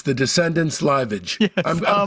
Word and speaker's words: Liveage: It's the Descendants' Liveage. Yes, I'm pronouncing that right? Yeah, Liveage, yeah.